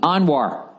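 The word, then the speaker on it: Anwar: from fahem pronounced Fahim anoir like anoir Sadat There's No Business Like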